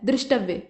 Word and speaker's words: दृष्टव्य: इसके बाद दृष्टव्य ऐसे नहीं लिखा जाता है, ऐसे लिखा जाता है दृष्टव्य, यहाँ द्रि का उच्चारण होता है।